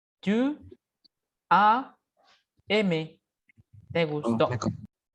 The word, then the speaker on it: as: Recuerden, la S no se pronuncia. Tu as aimé.